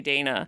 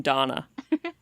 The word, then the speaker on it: Dana: He never learned how to say Dana. He would call him Donna.